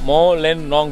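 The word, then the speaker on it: Mawlynnong: Bro, how do you pronounce this village name? Mao Len Nong village. Mao Len Nong village.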